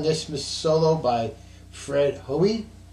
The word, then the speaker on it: Hoey: Miss solo by Fred Hoy h o e y I believe that's the way it's pronounced uh you want to